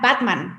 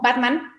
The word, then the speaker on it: Batman: Igual, por ejemplo, la palabra Batman, ¿no? Batman, todo el mundo conocemos a Batman, Batman. Esa es la pronunciación correcta en el inglés.